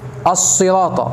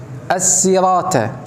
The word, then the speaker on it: الصراط: الكلمه يطل على الخطا مثل نطق السين ص او الصد س ادنا الصراط اهدنا الصراط ديت الصراط بالصاد والطاء ينطق الصاد س السرات ده خطا طل على اللفظ ه